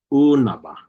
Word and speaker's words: unaba: It's unaba, unaba. It's lengthened. You pronounce it a bit longer. Unaba, unaba. So you don't have to spell it. You don't have to add that colon. Again, I just add that for educational purposes so that we can visually see that it is a lengthened oo sound.